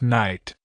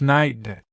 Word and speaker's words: knight: pronounced kite right but actually we don't pronounce the k at all so it's just night Tommy look there's a